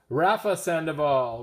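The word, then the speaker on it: Rafa Sandoval: Let's just solve this once and for all because I feel bad that I probably said the guy's name wrong or the girl. It is Rafa Sandival.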